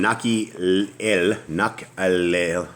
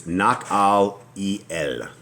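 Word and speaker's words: Nahaliel: And from Mattanah to Nak'elel, and from Nak'elel, sorry guys, I'm trying to pronounce this right. It's Nak'al-el. Nak'al-el.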